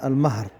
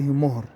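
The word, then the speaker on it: المَهر: ثم الصداق يطلق عليه أيضا المهر بفتح الميم، ولا يقال فيه مهر، لأن المهر هو ما ينتجه الخيل، أو يعني هو ابن الحصان أو ولد الحصان.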